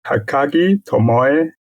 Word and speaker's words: Takagi Tomoe: Takagi Tomoe.